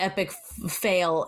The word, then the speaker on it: Epic Foal: Ned, you do know that Epic Fail is the way that Trevor's last name is pronounced, because that is in fact Trevor's family.